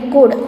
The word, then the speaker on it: could: COULD, could. L is silent.